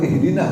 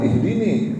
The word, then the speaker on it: ihdina: Dan bacanya juga ihdina, bukan ihdini, bukan aku.